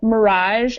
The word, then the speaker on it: mirage: note on these two The Mirage and garage they kind of have more of an open a sound ah all right H is